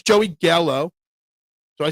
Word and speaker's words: Gallo: It's Joey Gallo.